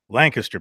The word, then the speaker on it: Lancaster: Notice the correct pronunciation of Lancaster. A lot of ignorance in our states, mostly from the north, say Lancaster. Lancaster, people.